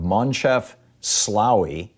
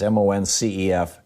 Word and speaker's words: Moncef Slaoui: And the co-director of this is a person by the name of Moncef Slaoui. I think I'm pronouncing that right. It's Moncef Slaoui, Moncef Slaoui.